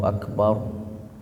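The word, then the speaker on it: أكبر: mah enggak boleh begitu itu kan rnya mati tuh sebelum roh harakatnya fathah maka hukum bacanya tafkhim tebal Allahu Akbar.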